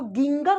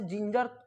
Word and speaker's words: ginger: अब यहां देखिए GINGER, अब इसको गिंगर कहेंगे ना, बिल्कुल नहीं। क्यों? आज के बाद से जिंजर, अब गिंगर तो पढ़ ही नहीं सकते हैं, क्या पढ़ेंगे? जिंजर। क्यों? ज का प्रोनाउंसिएशन यहाँ भी हो रहा है, यहाँ भी हो रहा है। क्यों हो रहा है दोनों जगह ज का प्रोनाउंसिएशन? क्योंकि जी के जस्ट बाद आई भी आ रहा है और सेकेंड जी के